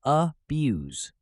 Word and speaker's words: abuse: or verb it's pronounced abuse with stress on the second syllable let's practice with this sentence many organizations work to prevent the abuse of Natural Resources notice